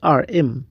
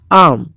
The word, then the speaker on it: arm: arm arm دلته دغه r silent اواز نه ورکړي، دا رقم تلفظیږي arm.